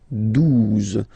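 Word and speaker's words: douze: phonetically, 11, okay, 12, 12, O, U, the two together will give you the sound OO, okay, and then Z, 12, 12, all right.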